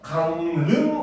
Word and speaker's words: 강릉: 자, 받침 미음 이음 뒤에 연결되는 리을은 니은으로 발음을 합니다. 그래서 강릉 같은 경우도 역시 어떻게 뭡니까?